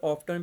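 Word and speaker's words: often: बाग बाज जगह प ऑफ बोलते हैं बाज जगह प ऑफ्टन भी बोलते हैं टी बाज जगह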